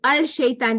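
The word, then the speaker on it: الشيطان: Because it's al-shaitan, there's two sukuns next to each other. Yeah, that's right. Okay, and because the lam is silent because it's a sun letter.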